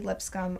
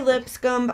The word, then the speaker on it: Lipscomb: That's Lipscomb art, and I'm saying the B so that you know to spell it, even though we don't have to say that.